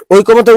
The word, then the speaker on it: ঐকমত্য: আচ্ছা, ঐকমত্যের উচ্চারণ বলছিলাম, উচ্চারণ অনেকে লিখে তাই না?